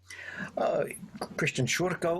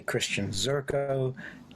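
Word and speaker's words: Christian Szurko: Christian Shurko, or if you just want to say Christian Zurko, just don't call me late for dinner.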